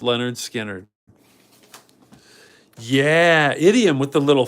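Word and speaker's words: Lynyrd Skynyrd: a great album 1979 pronounced Leonard skinnard yeah idiom with the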